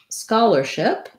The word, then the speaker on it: scholarship: in the list so for the word scholarship we have the word starts with the word scholar and then we have ship and it has first syllable stress so my skull syllable is stressed and my leadership syllables are shorter and unstressed the this um is